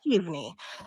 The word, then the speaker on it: Keav: um now Kei your name is if I pronounce this right Michael key key yes key so right off about where did I mean